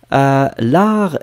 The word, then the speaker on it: l'art: L'art est un jeu d'enfant.